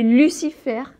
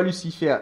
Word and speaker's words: Lucifer: la chose suivante, que les consonnes en position finale dans les mots en français ne se prononcent pas, sauf le L de Lucifer, le C de Lucifer, le F de Lucifer et le R de Lucifer.